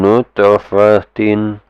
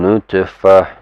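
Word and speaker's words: نُطْفَةٍ: Okay, min nutfatin, min nutfah, min nutfatin. This one, if you combine, if it's gonna continue, you pronounce it as min nutfatin. But if it's just this is the last word, min nutfah.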